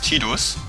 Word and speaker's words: Tidus: Also viele nennen ihn Tidus, ich werde ihn Tidus nennen, also wie er in Deutsch ausgesprochen ist, Tidus.